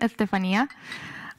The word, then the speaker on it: Estefania: That's how you pronounce my name, Estefania.